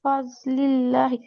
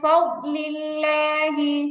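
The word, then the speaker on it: فضل الله: মিন মিন ফাজলিল্লাহি। মিন ফাজলিল্লাহি। ফাজলি হবে না, ফাজলি, ফাদলিল্লাহি। মিন ফাদলিল্লাহি।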